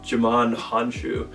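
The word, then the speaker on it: Djimon Hounsou: I think his name is pronounced Jaman Hanshu, if I said that right.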